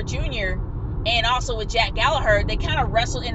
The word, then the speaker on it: Gallagher: People kept calling him Gallagher instead of Gallagher.